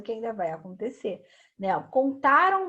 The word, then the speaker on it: contaram: Ó, é isso aqui, o nasal é o som que sai pelo nariz, tá? Então, vai ser exatamente nessa finalização aqui, ó, do AM no final aqui e do AOTIL aqui no cantarão, tá?